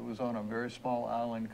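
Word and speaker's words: Islay: Well, it was a great trip to find it, because it was on a very small island called Isla. It's spelled I-S-L-I-L-S-A, Isla.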